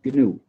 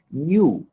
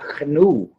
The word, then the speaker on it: GNU: El nombre que se escribe GNU, en inglés se pronuncia GNU, como Javier lo pronuncia. Okay. Está acostumbrado a decirlo en inglés, pero en castellano se pronuncia GNU, como si comenzara por ñ, pero nunca GNU.